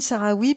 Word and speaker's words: Sahraoui: Alors, comme le Sahara. S a h r a O u I.